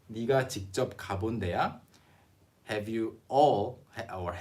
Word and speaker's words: 네가: So here we wrote it as 네가 because that's the actual pronunciation that people say this word in or phrase in, 네가.